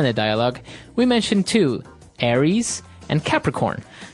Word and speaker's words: Aries: And u So it's pronounced Aries. Aries. A r i e s.